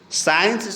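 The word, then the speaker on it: science: तो साइंस बोल रहे हैं साइंस, तो इसमें सी क्या है हमारा, मुक है।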